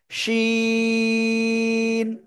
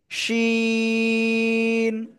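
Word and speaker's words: شين: জিহ্বার মধ্যখান তার বরাবর উপরে তালুর সাথে লাগাবেন, লাগিয়ে শা শা শব্দ করে তিন আলিফটা নিয়ে উচ্চারণ করতে হবে। শিন, শিন।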